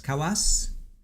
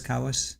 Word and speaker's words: Kawas: So this is more direct and this is uh her attorney Tara Kawas Kawas K A W SS Kawas. I think that's how she pronounces it.